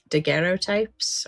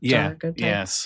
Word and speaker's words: daguerreotypes: It's daguerreotypes or daguerreotypes. Yeah, I never pronounce it right.